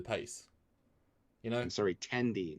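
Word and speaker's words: Tendi: fine with the pace you know i'm sorry tandy not tindy oh okay yeah i guess i say it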